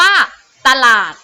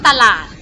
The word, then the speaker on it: ตลาด: นํา อักษร ต่ำ เดี่ยว เช่น คำ ว่า ตลาด อ่ะ คำ แรก ออก เสียง อีก 1 เสียง เหมือน กัน นะ คะ อัน ที่ สอง ออก เสียง แบบ หอ หนัก นะ คะ ตลาด นะ คะ จะ ไป คำ นี้